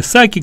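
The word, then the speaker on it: Psaki: Колоссальный кризис на границе, и тем не менее выступает пресс-секретарь Псаки, или Саки, как ее произносят на английский, по-английски.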